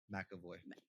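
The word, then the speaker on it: McAvoy: Makavoy. There's no A. That's how you pronounce that.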